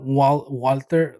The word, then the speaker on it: Walther: like say walter oh the gun brand is pronounced walther is it the firearm company yeah it's walter but it's a german country a german company